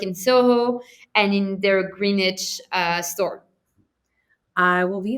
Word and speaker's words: Greenwich: to be yeah it's under eight in greenwich i really i i'm pretty sure i'm i'm not spelling it like pronouncing greenwich connecticut yeah you're right you got